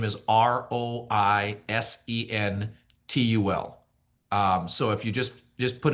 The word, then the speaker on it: Roisentul: So but the last name is Roisentul.